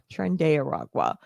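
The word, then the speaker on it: Tren de Aragua: Trenda Aaragwa is how you say it.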